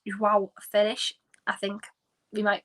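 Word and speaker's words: João Félix: Or if you want me to pronounce it in the Portuguese way, I think it's João Felix.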